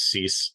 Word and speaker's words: Cease: I know it's Cease now for Washington, or for the Chicago White Sox, because I got helped out with that one a couple videos ago.